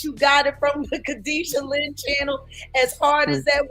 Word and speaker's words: Kadisha Lynn: Yeah, remember I kept calling her Katie Shaylin. Yeah. So it's KADISHALYNN, I believe it is. Kadisha Lynn. I kept calling her Katie Shaylin.